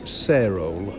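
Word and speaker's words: Sarehole: And then in 1896 the family moved to Sarole, spelt S-A-R-E, Hole, but I believe it's usually pronounced Sarol without the H, which was a Worcestershire village.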